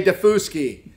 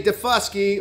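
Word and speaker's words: Daufuskie: in the wall everyday you sound like an idiot when you say defuski could you please say defusky like it's supposed to be pronounced in the english language how about you things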